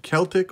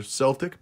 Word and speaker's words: Celtic: shelf at the dealer the Celtic or Celtic both pronunciations are proper was a I believe